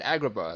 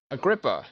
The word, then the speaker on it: Agrippa: we found our acropo I said Agrabah like like uh like from Aladdin uh Agrippa that's his name that's how you pronounced it but anyways we found